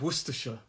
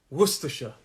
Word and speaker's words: Worcestershire: the actual last syllable there's three syllables and the first syllable is where the stress is worcestershire it's my hand movement worcestershire worcestershire and there's a